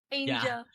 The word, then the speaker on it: aaynjuhl: what's up angel angel angel how do you how are you supposed to say it Angel it's just angel but the way you pronounce it is the way it's spelled there you go okay